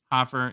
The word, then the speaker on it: Hofer: is it Joel Hofer I always thought as Hoffer but offer yeah you think there'd